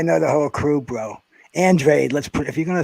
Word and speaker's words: Andrade: the whole crew bro andrade let's put if you're going to say his name say it right no no no they call him andre but i mean no